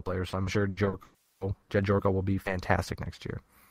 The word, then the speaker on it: Gyorko: Louis acquires Jed Jorko. I think that's how you pronounce his name, from the Padres. Gyorko. Jorko.